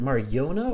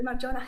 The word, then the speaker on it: Marjona: Okay, so It's truly Marjona. Yeah. it's Marjona. It is Jonah. Okay. Yeah, I wasn't sure if it's Yona or Jonah. Okay, Marjona.